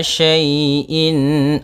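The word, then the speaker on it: شَيْءٍ: Pada bacaan wa kulla syai'in, syai' di sini ada fathah bertemu dengan ya sukun. Maka apabila ada huruf ya sukun didahului dengan harakat fathah, ini kita namakan dengan bacaan lin, yang mana ya dalam membacanya lembut.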